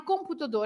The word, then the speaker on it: computador: If you split the word computador, Yeah. again, com is the M at the end of the syllable. So you pronounce the nasal on, right?